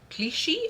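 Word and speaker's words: Cliché: Um, this designer is Jean Philip Cliche or Cliche. I guess you're if it doesn't have the thing over it, it's e cliche.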